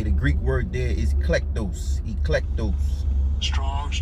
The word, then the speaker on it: eklektos: Okay, the Greek word there is eklektos. Eklektos. Strong's G, 1588. Eklektos. Eklektos. Eklektos. Electos. Okay, so how he pronounce it, eklektos.